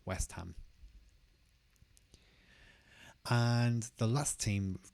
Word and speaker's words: West Ham: And instead, we'll just have West Ham. And again, the two words are not separated. They kind of come together. West Ham.